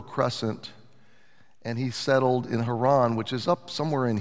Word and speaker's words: Haran: Kindred up into a land called Haron or Heron however you've heard it pronounced and so Abraham traveled up the Fertile Crescent and he settled in haran which is up somewhere